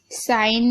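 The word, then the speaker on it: sign: Okay, साइन में भी देखिए जी साइलेंट है, और डिज़ाइन में भी जी साइलेंट है।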